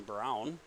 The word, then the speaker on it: Braun: And now running is number three, Ryan Brown. Spelled like Braun, but pronounced like Brown.